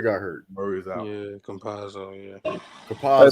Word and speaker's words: Campazzo: Who is Kamazzo? Exactly. You proved my point. He was legit. He was the guard. When Jamal Murray got hurt. Murray's out. Yeah, Campazzo.